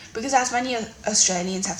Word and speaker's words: Australia: a sexually transmitted infection oh I don't say like that I say Australia yeah I don't know what simpler way to put oh we don't say it like that it might sound like it to you but that's not how you pronounce Australia okay we are seven